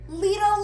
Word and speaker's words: Lidl: all right guys another little light a little order everybody keeps telling me i'm saying it wrong but in germany they say leedle so i'm going to say little another legal order and